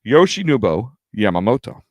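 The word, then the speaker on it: Yoshinobu Yamamoto: It's actually how it's spelled, how it's it sounds how it's spelled, but it's just your tongue can trip over it. Yoshi Nubo Yamamoto.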